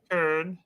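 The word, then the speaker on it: Köln: But with the umlaut has a ER-ish sound. Kern. Kern.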